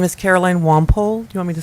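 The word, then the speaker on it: Wampole: need a taller mic my name is Caroline womp ole you want me to spell that w am pol ii and i live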